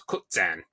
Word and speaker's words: Koczan: And and it it's K O C Z A with an accent N. It becomes Kan, which I had no idea.